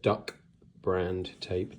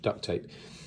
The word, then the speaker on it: duct tape: So it's actually duct tape, but of course, because people mispronounce it, you get duck brand tape, duct tape.